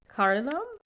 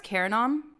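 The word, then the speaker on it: Carranam: Cardinum? Yeah, I thought it was Caranom. That's what it is.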